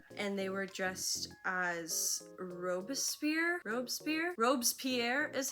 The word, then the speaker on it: Robespierre: Sierra and Jay Zhao was also there, and they were dressed as Robespierre is how it's spelled, but I don't know.